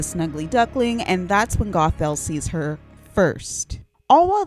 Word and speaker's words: Gothel: All right, just pretend like I've been saying Gothal the whole time cuz that's how you pronounce her name.